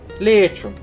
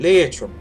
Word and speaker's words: Leitrim: Leitrim. You have to say it like that. Leitrim.